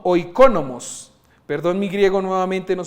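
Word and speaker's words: οἰκονόμος: original que significa mayordomo la pronunciación de esto es oico no O iconomos Perdón mi griego nuevamente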